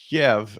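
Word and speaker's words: Kyiv: My whole life I spelled it Kiev and pronounced it as Kiev. I refuse to pronounce it Kiev. Why? Kiev is the Ukrainian. I pronounce it Kiev. It is the Ukrainian pronunciation. It is what you should pronounce it. Kiev. Kiev is the Russian version.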